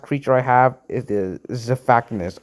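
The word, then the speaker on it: Xiphactinus: And the last creature I have is the Zephactinus. I used to call these guys Zephantificus, and yeah, that's just wrong how you say it.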